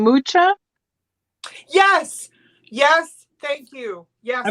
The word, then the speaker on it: Mucha: Alfonso Mucha, not Muca. That's bad.